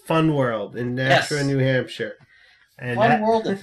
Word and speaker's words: Nashua: And the locals, Nashua. Yeah, the locals got it. It's like, no, it's like Nashville, Nashua.